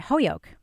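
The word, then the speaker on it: Holyoke: Holio people pronounce it Hoyoko and they make fun of you if you don't pronounce it Hoyoko but they don't say Mount Hoyoko college they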